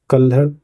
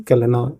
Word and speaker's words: कल्हण: कल्हड़ बोलते हैं हिंदी, कल्हना इंग्लिश में थोड़ा सा प्रोनाउंसिएशन होता है।